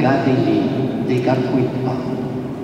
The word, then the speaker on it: Kateri Tekakwitha: Pour nous, Canadiens et Québécois, la canonisation de Gadeli de Gapuipa, as it is pronounced in Mohawk, nous interpelle concernant les relations